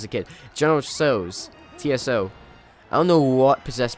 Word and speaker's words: Tso: so get it straight like Tsar in Russia TSA are spelled Tsar